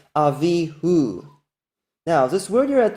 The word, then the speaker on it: Avihu: So there's no dispute about this pronunciation, Avihu.